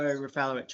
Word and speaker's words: Rafalo: you all okay um Mr rafalo am I pronouncing your name correctly um you're just on mute yes yeah it's rafalo or rafalo great okay we're ready when